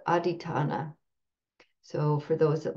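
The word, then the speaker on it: adhiṭṭhāna: the poly language this uh quality is called aitana so for those that like to reference these poly words I'll just spell it um and I'll put it in the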